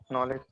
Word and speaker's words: knowledge: Knowledge. Correct. Can we say knowledge? No. K is silent there.